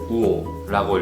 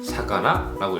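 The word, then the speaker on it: 魚: 이키테 이루모노와 우오라고 읽고 요리 사레테 이루모노와 사카나라고 읽습니다.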